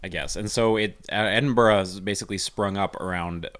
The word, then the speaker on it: Edinburgh: of it as somebody who has no idea it's spelled edinburgh yeah but it's edinburgh and barack okay uh borah means castle so it's an edin castle i guess and so it edinburgh has basically sprung up around what used to